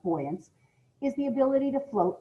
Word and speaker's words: buoyancy: the property of boyancy simply put buoyance or buoyance it's actually uh pronounced buoyance is the ability to